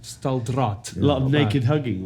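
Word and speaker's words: Staaldraad: No, the other thing I want to ask you, in 2003, did you do Camp Stalgrad? I did. Have I pronounced that correctly? Staldraad. Staldraad.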